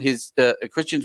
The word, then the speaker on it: Xtian: It's Xtian. Just Xtian with it. Yeah, it's Xtian is with an X, TIA, like Xmas, like Christmas. Yep.